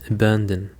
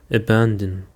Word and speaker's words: abandon: Now let's go to the third word, and it is abandon. Abandon. The stress is on the second syllable, abandon.